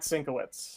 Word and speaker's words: Sienkiewicz: him for a sec yeah it's uh matt sinkowitz not cinco it's uh yes um